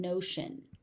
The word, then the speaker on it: notion: Again, the TI here is a sh sound, notion.